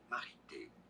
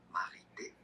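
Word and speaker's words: Marithé: Marité. You could say Marité. TH is pronounced like a T in French. The H is silent.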